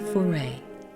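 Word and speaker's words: Fauré: music today is oh and here comes the pronunciation Opus 24 Gabriel foray with nadash ro Shaw on cello and Margot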